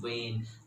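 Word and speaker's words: wane: video the word is when w-a-n-e and the pronunciation is vain like we talk about in our body arteries and whales v-e-i-n so basically means when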